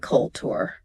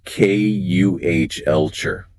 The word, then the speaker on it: culture: Many candidates emphasize the second syllable and make it sound like a sightseeing trip. It is not culture. The emphasis is on the first syllable, and the tu makes a chart sound. It is pronounced K-U-H-elcher.